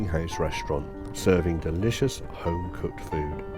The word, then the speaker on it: Fowey: restaurant serving delicious home-cooked food. This is Fo. I think that's how you pronounce it. Foye is what we were saying until we were corrected.